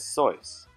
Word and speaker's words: Seuss: his mother's maiden name and his middle name Seuss because of an alcohol-related incident that required anonymity Seuss is actually pronounced as soyuz but the incorrect version stuck because of Rapid